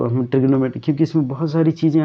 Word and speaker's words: trigonometry: ट्राइग्नोमेट्री, ये ऐसे पढ़ते हैं इसको ट्राइग्नोमेट्री, बट इसको हम प्रोनाउंसिएट करते हैं ट्रिग्नोमेट्री, ओके।